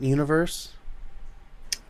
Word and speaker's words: Univers: Did you ever use the font Universe? Yeah. It's actually Yeah, pronounced Universe.